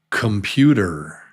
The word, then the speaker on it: computer: It's computer.